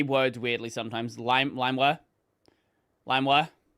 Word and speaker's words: LimeWire: In that same video, I mispronounced the word LimeWire, which is how I've always pronounced it, and that's the correct pronunciation, as limeware.